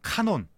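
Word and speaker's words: κανών: 이런 책들을 더 캐논 헬러 발음으로 하면 카논 자 라는 단어는이 카논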